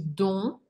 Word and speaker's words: dont: nous avons aussi donc dont je ne prononce pas le T je dis donc est employé dans le